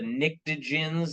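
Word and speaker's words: pnictogens: more nitrogen's family is called the nicens that's spelled with a p Oxygen's family is called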